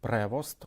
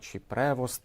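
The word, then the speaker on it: Prevost: Ним став американський кардинал Роберт Превост. Уже виникли суперечки з приводу того, як як правильно вимовляти його прізвище: превост. Одні кажуть прево, інші кажуть превост.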